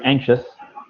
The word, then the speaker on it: anxious: You will feel very anxious. Well done. That's a good word, and you pronounce that word correctly. A lot of people pronounce it incorrectly, but you pronounce it correctly.